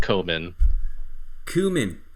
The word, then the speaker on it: Koeman: Koe is pronounced Cu for us English speakers. So Koeman.